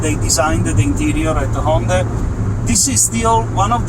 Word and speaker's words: Hyundai: It's actually pronounced HYUNDAI, and he told me what to order to get the same kit that they had there.